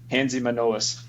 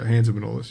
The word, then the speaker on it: Hanzimanolis: Because it's a Hanzimanolis. That's so I said tough, it right. Yeah, close. Yeah, Hanzimanolis. You're close. You got it. Just pronunciation is off. That Greek last name. It's Greek as it gets, man.